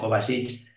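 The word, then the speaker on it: Kovačić: jugador croata no sé si lo voy a pronunciar bien Mateo kovasi sí Mateo kovasic es el fue conocido porque en la celebración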